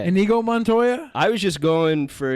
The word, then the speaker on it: Inigo Montoya: saying yeah go Montoya is that how you pronounce it yeah inigo montoya I was just going